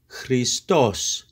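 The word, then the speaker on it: Χριστός: the fourth word is extremely important it is Christos Christos it is masculine so it is all Christos or Christos and of course this is Christ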